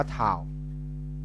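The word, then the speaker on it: τ: ค่า เท่า กับ RC ตัว นี้ อ่าน ว่า ทา ครับ ทา ทา เท่า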